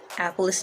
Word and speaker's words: Alplaus: born i'm just kidding the small town is called apollos new york it's spelled a-l-p-l-a-u-s apple is new york less than 500 wonderful